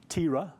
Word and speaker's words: Terah: So here we have the story here of Terah, which is what his name was. That's how it's pronounced.